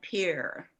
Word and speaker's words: Pierre: friends and family in sioux falls chamberlain and pierre which is the correct pronunciation of our capital and that's christy we